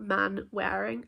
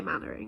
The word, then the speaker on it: Manwaring: The Manwarings, I believe. I think I heard some people say Mannering, but it's spelt man-wearing. I don't know if, yeah, you don't say that. You say Mannering instead.